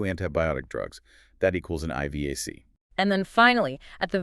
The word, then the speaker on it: IVAC: That stands for Infection-Related Ventilator-Associated Complication, pronounced IVAC.